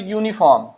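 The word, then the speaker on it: uniform: अब इसके बाद देखिए यूनिफॉर्म इसमें भी आ रहा है। अच्छा यहां वाले में देखिए यहां पे भी ए आएगा। यू है इसका प्रोन्सिएशन तो ए आएगा। और यूनिफार्म में भी तो ए आएगा।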